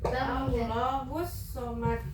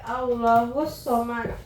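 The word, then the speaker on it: اللَّهُ الصَّمَدُ: Coba ada Ripa ulang sekali lagi yang qul huwallahu ahad, Allahus somad. Allahus samad. Iya, kan di situ ada apa coba kenapa bacanya tekan 2 kali? ada Tasdid. boleh duduk.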